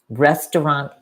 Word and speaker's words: restaurant: Restaurant is a very hard word in some languages because of the R sound.